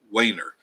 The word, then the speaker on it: Weiner: Pronounced Weiner, right? Like Way, W-E-Y, right?